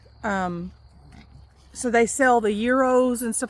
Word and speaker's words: gyros: Um so they sell the euros and stuff like that, which is what I like.